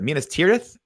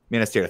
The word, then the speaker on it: Minas Tirith: Minas Tirith? That time you said it right. Minas Tirith.